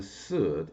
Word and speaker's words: Sud: And the fourth level, the final level, is called the Sud, and it's spelled S-U-D.